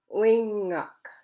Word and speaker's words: wingak: you too, I think, because there's ng in there. So it's wingak. When you break it into syllables, you gotta break it up to ui. There's one syllable there, and then ngak is the next syllable. So there's two syllables there. So it's wingak, wingak.